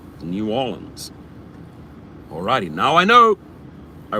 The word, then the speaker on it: New Orleans: it and i was i was apparently saying it incorrectly for for four years and then a few people say no it's it's not you don't say new orleans new orleans alrighty now i know